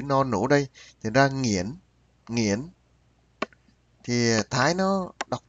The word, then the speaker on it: Nguyễn: Nó ra nghiễn, nghiễn. Nghiễn thì cũng gần gần đúng đấy bạn. À, Nguyễn thì nó đọc nghiễn, nghiễn. Thì mỗi nước nó có phát âm khác nhau bạn.